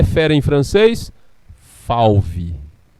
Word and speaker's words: fauve: Fauve. Escrito F-A-U-V-E. A gente pronuncia fauve.